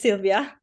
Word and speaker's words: Sylvia: room is yours thanks is it Sylvia yes it's Sylvia um sorry I Haven